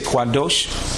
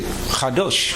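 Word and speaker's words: קדוש: so some people say quad dosh some people say say khadosh it might say khadosh they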